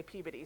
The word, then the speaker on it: Peabody: That's why there are many things named after him, like the Peabody, mostly sometimes people pronounce it as Peabody, but Peabody is how the New Englanders will be mad if I don't say Peabody.